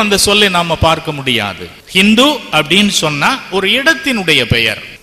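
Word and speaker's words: Hind: சின்ட் river அது வந்து Persian லாங்குவேஜ்ல அந்த ச என்கின்ற அந்த ஒலியை அவர்கள் ஹ என்று தான் உச்சரித்தார்கள் ஹிந்த் சின்ட் பிகேம் ஹின்ட் அப்போ அந்த ஹிந்த் இந்தியா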